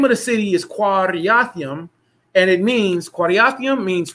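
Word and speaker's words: Kiriathaim: So y'all help me out when we get to that word, and we're going to pronounce it Quariathaim. It means two cities, like Dayton and Columbus.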